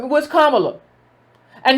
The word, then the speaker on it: Kamala: I pronounced her name Kamala. It's Kamala.